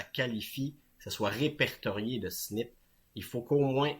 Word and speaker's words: SNP: du nom jusequen anglais il appelle ça SNP ça se prononce snip mais en français c'est